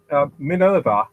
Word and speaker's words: Minerva: Yeah, Minerva, as in the Greek goddess.